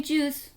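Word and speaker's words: Tschüss: हम बोलते हैं चूस, जैसे हम कहते हैं बाय बाय, तो ये च की साउंड देता है TSCH।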